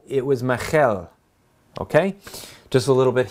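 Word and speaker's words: מיכל: not a ch it's not cha as people pronounce it it's not chata it's okay therefore when david married saul's daughter it wasn't michael it was michelle okay just a little bit hebrew because it's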